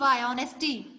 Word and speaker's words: honesty: ऑनेस्टी. अविरल. Yes ma'am. Tell you tell spelling of ऑनेस्टी. Ma'am HONESTY. Yes, HONESTY. Honesty. So we have to think that silent letter is H.